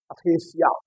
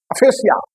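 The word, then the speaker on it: aphasia: की क्षमता चला जाता है, उसे क्या कहेंगे, अफेसिया। स्पेलिंग याद करिए, ए पी एच ए एस आई, अफेसिया और अफेजिया।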